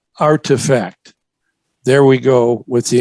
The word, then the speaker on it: RTFKT: metaverse get this another acronym rtfkt which is pronounced artifact there we go with